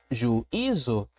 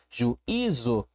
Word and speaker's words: juízo: I, na verdade, eu tenho um iato aqui, ó. Ju iso. Esses dois tons foram separados. Essas duas vogais foram separadas quando a gente pronuncia e quando nós fazemos a separação silábica. Logo, eu tenho a regra do iato aqui, OK?